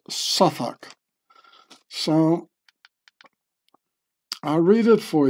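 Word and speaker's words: Southwark: was born in Sak which Americans would pronounce South walk with the londoners pronounced suak so I'll read it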